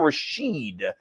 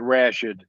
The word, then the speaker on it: Rashid: or 76 here rashid joins us on vick's picks did i pronounce the last name correctly not quite some people pronounce it that way but we pronounce it rashad rashford i've been called